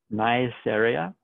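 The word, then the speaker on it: Neisseria: so here we have nice area that is how it's pronounced niaceria meningitis and the the specific names here are very important because they describe the disease that these organisms cause so niaceria is also a caucus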